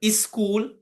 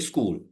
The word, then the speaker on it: school: But they say some speakers used the word is school. The correct pronunciation has to be school.